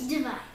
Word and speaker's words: divide: This is going to be a short I with a breathe. And it's going to say divide. Now it said div here, but the accent was there. Divide.